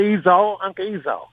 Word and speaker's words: Esau: the flavor on Uncle Esau. Am I pronouncing that right, Bobby? Yeah, Uncle Esau.